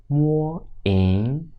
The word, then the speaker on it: 名: phrase with two characters 名 m ing ming 名 z i zi 字